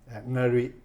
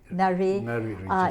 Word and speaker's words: Ngari: And when I was reading about the province, if you could pronounce the name Niger or Niger? Ngari. Ngari.